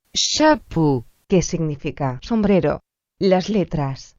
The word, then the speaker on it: chapeau: Las letras A, U, O, E, A, U se pronuncian como un O. Por ejemplo, chapeau, que significa sombrero.